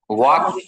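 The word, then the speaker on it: walk: ওয়াক হাঁটা, ডব্লিউ এ এল কে ওয়াক, এটা এল আছে, এলটা উচ্চারণ হবে না, ওয়াক।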